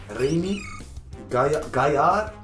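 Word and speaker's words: Gaillard: Remy gard. Is it gay? Cuz I'm guessing you don't pronounce the D, right? Gar. Remy Gar.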